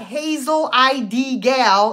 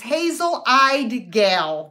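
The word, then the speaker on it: Hazel Eyed Gal: how to pronounce it it's not hazel id gal it's hazel I de gal because I have hazel eyes so there you go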